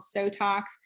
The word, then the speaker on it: Sotox: then i use another called sotox which rhymes with botox which lightens tightens and